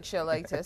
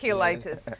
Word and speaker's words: cheilitis: Ford, for sharing with us on this lip eczema It looks like cheilitis, but clearly it's cheilitis. It's spelled C-H-E-L-I-T-I-S, just in case you want to look it up some more.